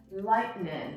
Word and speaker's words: lightning: So usually what a native speaker would do is actually the tongue would move as if you were going to pronounce the T, but then it is withheld, okay? And like they hold it back and they do not pronounce it.